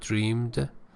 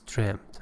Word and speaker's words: dreamed: couldn't have dreamed of pay attention to the pronunciation of dreamed as the past tense dreamed it's not dreamed it's dreamed of so even actually uh